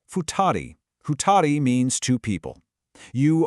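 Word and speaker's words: 二人: This one is pronounced futari.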